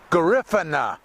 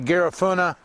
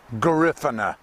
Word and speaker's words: Garifuna: the black people that live there, and it's pronounced Garifuna. Some people say Garifuna, but they say Garifuna.